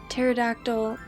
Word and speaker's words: pterodactyl: Why can't you hear a pterodactyl go to the bathroom? The P is silent.